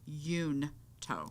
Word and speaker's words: Junto: The Junto or Junto or whatever we want to call it Institute. Literally says that Benjamin Franklin pronounced it Yunto. Y-O-O-N.